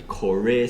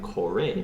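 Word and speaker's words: Kore: next we have the Corey CV of rather than love Reliance series Reliant Corey not core I keep pronounce it wrong so the Reliant Corey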